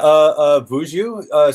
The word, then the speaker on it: Vuju: Yeah, Vuju. So Vuju? it's actually I tried to mash together the words for cuckoo, like a cuckoo bird, and, Okay. and the Vayu. Vuju.